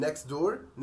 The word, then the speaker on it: next door: نفس الكلام برضو بالنسبة للنكست دور، هتبقى next door next door، هم شالوا التي خالص.